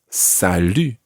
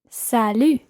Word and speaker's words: salut: it and this time we can use that u sound it's not Sal it's sal sal listen carefully to the difference between bour and Sal it's a completely different vowel sound Sal repeat sal sal